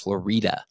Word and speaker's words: Florida: For those who don't know, you can tell somebody's not from here if they call this street right out here Florida Street, because it's spelled just like Florida, but it's pronounced Florida.